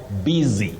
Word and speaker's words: busy: Just like you can find the word busy. It is B-U, but that U takes the sound E, busy.